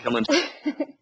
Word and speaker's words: Kilimanjaro: Kilimanjaro? Oh, it's perfect. Kilimanjaro. Exactly like it's spelled.